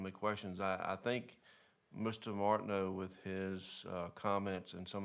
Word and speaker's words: Martineau: Is it Martin new or no? So I watched the video of the last meeting, and I said it wrong. It was Martineau. actually, the EAU is just a no, so it's just Martineau.